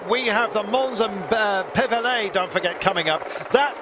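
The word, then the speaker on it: Pévèle: It's sector 10 on the countdown, the Mons and Pevelay. But we are waiting, Pevela, beg your pardon, no accent on the final E.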